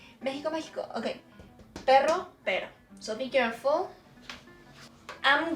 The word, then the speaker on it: perro: Because if you pronounce this R soft, as if it was just one, the meaning is different.